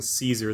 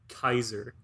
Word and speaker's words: Caesar: latin is you um pronounce a c with like a k sound oh and the a e is like an i so like you pronounce it kaiser oh what salad sounds